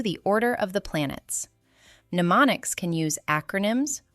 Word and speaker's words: mnemonic: Mnemonics can use acronyms, rhymes, imagery, songs, or meaningful associations. They support memory, but they do not replace understanding. Also, the first M in mnemonic is silent.